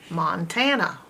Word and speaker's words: Montana: uh mon tan uh if this was normal phonetics this a would say a so you'd have Montana a but that's not how it's pronounced it's an open a that's not X and it with its a sound it's making up uh sound so it's a schwa mon tan na Montana